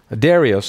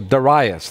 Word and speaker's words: Darius: the first year of Darius or daras there's different ways of pronouncing his name whether it's daras or Darius in the first year